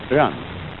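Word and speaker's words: 仁: e in it's pronounced run sort of like rolling an R or rather saying R but not rolling it and this word is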